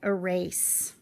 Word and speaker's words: erase: You might erase. Looking at the vowels in this word, there are 3 vowels, but it's only 2 syllables. Erase, because the E at the end is silent.